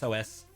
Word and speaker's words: Sosai: It's Soseye. I know how it's spelled.